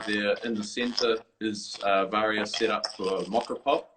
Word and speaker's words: Varia: Well, I pronounce it Varia, but it depends on, I guess, where people are from. They tend to pronounce it.